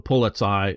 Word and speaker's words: Polizei: The Polizei is how I pronounce it, just to sort of emphasize the last I.